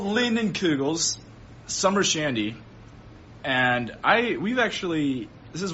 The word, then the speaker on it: Leinenkugel: Yeah, because I can't pronounce it. Oh man. Okay, it's Leinenkugels.